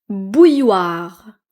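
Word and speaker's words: bouilloire: Ensuite, bouilloir bouilloir. Bouilloir. Donc ici, il y a deux L mais on ne les prononce pas.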